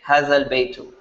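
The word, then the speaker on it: هذا البيت: You just say hadha al baytu. Even though you write the alif, it's not pronounced when you're speaking.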